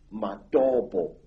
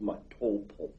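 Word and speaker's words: Matobo: place called the mountains of the round rocks madobo wrongly pronounced matopo in zimbabwe these hills are really not remarkable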